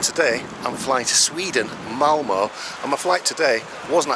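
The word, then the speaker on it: Malmö: But actually the city is not pronounced Malmo, because that O on the end has got 2 dots on it. It's actually pronounced Malmo. Malmo.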